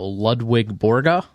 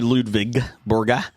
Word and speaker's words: Ludvig Borga: I just pronounced it Lwig. The the the see you guys the W in German is pronounced like a V.